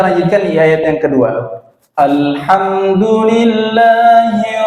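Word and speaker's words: الحمد لله: sebentar itu terkait dengan qolqolah lam ini tidak bisa di Qalqalah tidak bisa dipantulkan tidak pengucapannya Alhamdulillah ya Terkadang kita agak apa namanya nyeret ya secara tidak sadar alhamdulillahirobbilalamin secara tidak sadar memang kita mengucapkan seperti itu dan tidak sadar gitu Padahal alamnya itu tidak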